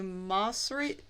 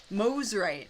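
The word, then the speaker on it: Mosrite: Yeah, this one I got for $100, which I thought was really neat, and it's got Moserite. Oh, Moserite. Oh, Moserite. That's how you pronounce it.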